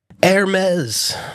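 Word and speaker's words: Hermès: Hermes, my wife had to teach me how to pronounce that.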